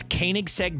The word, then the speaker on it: Koenigsegg: It's Koenigsegg Jesko.